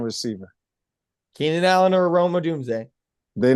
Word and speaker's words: Odunze: How do you pronounce his name? Rome Odunze? Odunze, yeah.